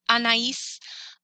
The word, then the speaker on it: Anaïs: I really wanted to spell it. Anaïs.